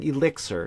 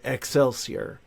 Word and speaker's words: elixir: But he kept pronouncing this one word in the song, elixir. He kept pronouncing the word excelsier.